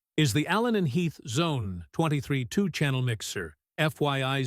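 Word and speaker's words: Xone: One of the most interesting and well-reed introlevel DJ mixers is the Allen and Heath Zone 232 channel mixer. FYI Zone is pronounced like zone.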